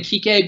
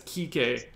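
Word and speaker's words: Kiké: You do not read that as Kike if you're just reading it in general. If I gave that to my dad, he's not Kike Hernandez. I'm positive of it. He should know that there's an accent on the E, and that's what makes it different.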